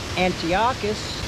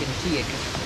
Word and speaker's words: Antiochus: They allowed Israel to keep their ways until he got to King Antious or Antiochus IV, depending how you pronounce it. I like Antiochus the fourth.